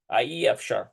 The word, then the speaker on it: אי אפשר: אי אפשר. אי אפשר. It's pronounced E.